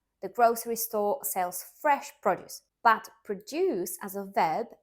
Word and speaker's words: produce: the lecture for me produce as a noun produce stressed on the first syllable this could be for example fruits and vegetables the grocery store sells fresh produce but produce as a